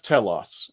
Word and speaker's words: Telos: No, it's Telos.